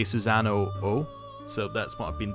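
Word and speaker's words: Susano-o: social link infuses susano I believe that it's meant to be like susano as an o with a long o it's much more funny to say susano oh so that's what I've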